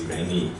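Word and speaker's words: Irene: Irani is actually IR i n e but pronounced in German is Irani unfortunately P Street Irani could not be with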